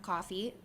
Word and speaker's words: Ko-fi: I don't know if many of you have heard of coffee, but it's spelled KO-FI. So like coffee.